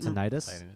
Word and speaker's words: tinnitus: don't know I didn't Tinnitus. Is it tinnitus? Yeah, Because I've heard it tinnitus. pronounced both ways, tinnitus or tinnitus.